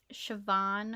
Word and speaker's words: Siobhan: who um I gotta think of how to pronounce her name um it's Siobhan Hogan that's it am I missing her middle